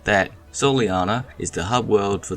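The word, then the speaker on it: Soleanna: young girl like that soleiana is the Hub world for the game and has always said daytime despite how prior cut scenes may play out phonetically spoken the town sounds like Soul Anna which probably could be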